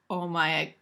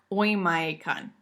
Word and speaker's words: Oymyakon: This place is called, it's hard to pronounce that word, I would say Oymyakon, but that's probably not it. Oymyakon, it's Russian.